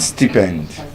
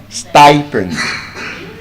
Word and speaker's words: stipend: And so, for example, one of those words which I believe many of us mispronounce is the word st. Not stippened. Stipen.